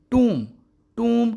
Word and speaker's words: tomb: یاد رکھنا ہے کہ جو ورڈ بھی MB پر اینڈ ہوتا ہے B سائلنٹ ہوتا ہے، اور یہ جو TOMB ورڈ ہے اس کا تلفظ ہے ٹوم اسٹون، قبر کا کتبہ،